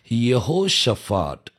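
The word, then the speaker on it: יהושפט: அதாவது பைபிளில் எபிரேய மொழியில் கொடுக்கப்பட்ட பேர் என்ன அப்படின்னா யெகோஷபாத். இதில் யெகோ அப்படின்னு சொல்லி வரும். யெகோங்கிற ஸ்பெல்லிங் பாருங்கள், YEHO, யெகோஷபாத் அப்படின்னு சொல்லி வரும்.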